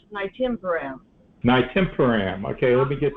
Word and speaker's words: Nystatin: I pronounce it Nystatin.